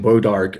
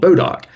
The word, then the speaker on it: Bodock: So that name that pronunciation bodark eventually came bodark. I've seen that spelling and that pronunciation as well but we in Mississippi or at least in north Mississippi always heard it called Bodok.